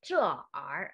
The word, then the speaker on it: 这儿: 能帮我把电视搬到这儿来吗？这儿 It is not 这儿 We can't pronounce it separately. We should read it together. 这儿Yes, this one. R should pronounce softly. This one. 这儿 It is not 这儿 Okay, it's 这儿能帮我把电视搬到这儿来吗？能帮我把电视搬到这儿来吗？